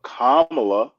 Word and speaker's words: Kamala: named Pamela we don't call her Pamela but kamla is how you pronounce her name your sister's name is pam